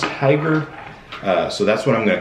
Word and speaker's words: Hygger: name wrong it's h-y-g-g-e-r i can only assume that it's pronounced hyper so that's what i'm